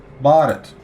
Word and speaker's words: Bharat: Bharat. Got it. So, who knows how Japan's going to pronounce it in the future.